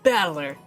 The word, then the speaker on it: Battler: The problem is my own name is made up of the characters for fight and person, and it is pronounced Battler. Put it all together and you've got Battler.